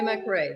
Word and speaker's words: McRay: is that your name hello everyone yes mcray that's how you say it oh thank you